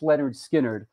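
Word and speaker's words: Lynyrd Skynyrd: introduced me to the Leonard skinnard album pronounced Leonard skinnard and at Jimmy Hendrick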